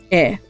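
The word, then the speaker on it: へ: one's house oh um so e which is it's the hiragana is hair but you pronounce it it's basically the same thing but i guess this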